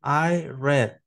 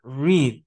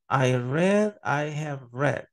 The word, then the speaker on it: read: los tres tiempos pero al pronunciarlo en pasado usted tiene que ser red como que fuera el color verdad es que usted va a decir yo leí en inglés usted dice I read quiero decir hay red